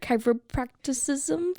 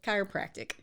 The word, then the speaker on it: chiropractic: Chiropracticism? Is that right? Almost. How do you pronounce it? Chiropractic. Oh, it's just chiropractic.